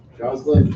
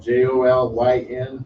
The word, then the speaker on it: Jolyn: repetitive for someone else Jocelyn I think that's pronounced that j-o-l-y-n jolyn there you go see I had a question thank you thank you Lord it's okay my name is Jolene I'm the 250